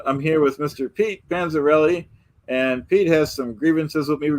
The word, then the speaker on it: Panzerotti: Yeah, first of all, you called me Panzeretti again, or what the heck you call myself? It's Panzerotti.